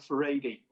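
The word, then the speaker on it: Furedi: and this guy called Frank for a tea that's the right pronunciation is a sociologist and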